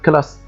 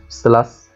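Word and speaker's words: classe: مباشره حرف ايه الكا زي مثلا كلمه كلاس ليه ما قلتهاش سلس لان الحرف الواقع بعد حرف الاس هو مش من الحروف الثلاثه وكمان مش حرف الاش فبقول كلاس بقول كامراد كامراد كامراد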